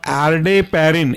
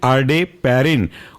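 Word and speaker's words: Ardeparin: ए आर आई N next example है आपका आर डे पेरिन ए आर डी ई पी ए आर आई एन आर डे पेरिन उसके बाद next example है आपका Dana पा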